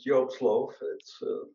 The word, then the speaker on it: Joop Slooff: And you pronounce it right. It's Joop Slooff.